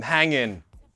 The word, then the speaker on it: hanging: But in this context, hanging, usually pronounced without the G, I'm hanging. It means you feel very hungover. This weekend, if you wake up hanging, then stay in bed, get some McDonald's, an energy drink or a Coke.